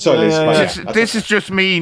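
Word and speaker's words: Tzolis: What did I call him? Tosselis. You called him Tosselis, yes. It's Christos Solis.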